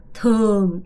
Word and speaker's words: thường: thường 이거 발음 잘해야 돼. 이 발음이 되게 중요한데요. 이 발음 sing 아니고요. swing 이 발음을 제대로 하셔야 돼요. thường swing 오케이.